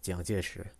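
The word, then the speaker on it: 蔣介石: Like, in Chinese, in Mandarin, his name is Jiang Jieshi.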